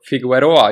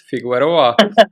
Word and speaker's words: Figueroa: My name is Rasmus, and I'm here today with Figueroa. Is it right? Figueroa. Figueroa, Uh, Figueroa. You don't Figueroa.